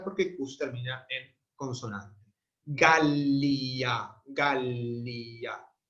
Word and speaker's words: Gallia: Gallia, Gallia. La primera es larga porque termina en consonante.